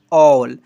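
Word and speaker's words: all: 51 जो है ना जब किसी वर्ड में ए के बाद डबल एल आए तो ए को औ से पढ़ते हैं। देखिए एग्जांपल के तौर पर double A double L ऑल एच A double L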